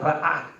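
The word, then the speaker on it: רָאָה: La palabra vieron aquí viene de la palabra hebrea que se pronuncia ra'á, que aunque parte de su definición incluye ver, mirar, impresionar, etcétera, etcétera, etcétera.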